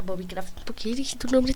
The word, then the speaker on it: Bobicraft: Craft Bob Bob Craft así se pronuncia Bobby Craft Por qué di tu